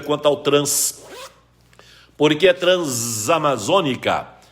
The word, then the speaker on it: Transamazônica: tenho essa no final se a palavra seguinte iniciar por vogal o essa esse junto a vogal e aí são dizer Transamazônica se a palavra seguinte iniciar